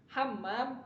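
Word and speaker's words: حمّام: Sebagai contoh misalkan hammam sama hamam. Hammam itu ketika ditasdid artinya jadi kamar mandi, berbeda dengan hamamun, merpati.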